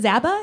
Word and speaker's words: Zaba: to congratulations on the new record is it zaba is that how you say it yeah that's